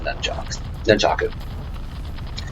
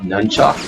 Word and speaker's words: nunchaku: Mirai uses on you when he has the nunchaku. Which actually is the proper pronunciation.